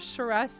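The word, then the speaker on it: Sharess: You are saying it right. Charis is the cat god of lust. Well, then no wonder it's called Charis's Caress. It's meant to be like a cheeky rhyme, I suppose, in that sense.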